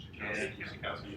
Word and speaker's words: Schakowsky: Schakowsky.